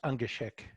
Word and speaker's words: Ungashick: Ungashick. Very close. Okay. And you're courageous because most people won't even touch it. It's pronounced Ungashick.